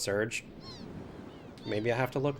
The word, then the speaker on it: Serge: Always pronounced it the way you are, Surge. Surprised when I heard others say Sergey, which made sense after learning French pronunciations. Yeah, I mean, as far as I know, it's Surge.